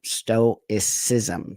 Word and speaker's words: stoicism: control that anger because stoicism, okay, I was pronouncing it wrong last time. Stoicism.